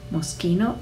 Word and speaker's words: Moschino: bottega veneta bottega e con 2t e bisogna pronunciarle bottega moschino sh i park sun moschino roberto cavalli doppia elle cavalli missoni doppia